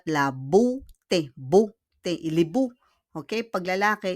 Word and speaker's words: beauté: We pronounce it not beauty, but la beauté.